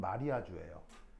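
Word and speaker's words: mariage: 거예요 마리아주 하거든요 자 영어로 발음하면 뭐예요 메리지 결혼 요거를 이제 불어로 바로하면 마리아주에 그래서 이제 이게 뭐냐면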